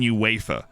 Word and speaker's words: UEFA: so he's in uefa actually the right way to say this is he is in uefa but i think he